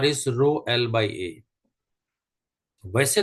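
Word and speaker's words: rho: Resistivity symbol is रो इसको हम pronounce कैसे करते हैं रो को? तो R H ओ रो नाउ क्रॉस मल्टीप्लाई अगर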